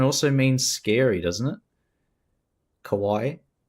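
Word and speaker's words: かわいい: Kawaii depending on how you pronounce it. Kawaii Kawai Dio. You say co co. Yeah. With a W. Scary or frightening. But with the A it means cute.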